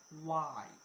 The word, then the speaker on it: Y: আচ্ছা, এক্স, এক্স না, এক্স, এক্স, ওয়াই, ওয়াই, আর বলি না হোয়াই, হোয়াই করি না আমরা, যে ডাব্লিউএইচ ওয়ার্ড আছে না একটা, হোয়াই, হোয়াই, আসলে হোয়াই না ভাই, ওটার উচ্চারণ এখানে ওয়াই।